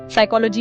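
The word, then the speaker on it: psychology: साइकोलॉजी में P silent है।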